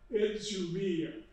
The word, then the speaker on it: Idumea: Oh, this is the way you pronounce it. Idzumea. I practiced it, it doesn't make any difference, I still can't say it. Idzumea.